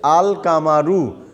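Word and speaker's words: القمر: যখন আমি আল যোগ করতে তখন হয়ে যাচ্ছে আল কামারু মানে দাম মুন এই ধরনের শব্দ বা এই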